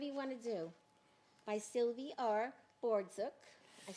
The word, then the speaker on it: Sylvie Bordzuk: By Sylvie Bordzuk.